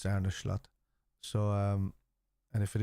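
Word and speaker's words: Arne Slot: Slatt now has and I'm just assuming that he's pronounced ARA schlatt so like an sh sound cuz he's Dutch and they're like their with their s's they don't really pronounce s like s so um so I'm assuming is arnish slot so um and if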